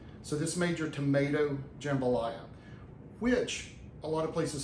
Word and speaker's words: jambalaya: It's jambalaya. I have it in my brain that it's jam, J-A-M, the way it's spelled, but it's pronounced jambalaya.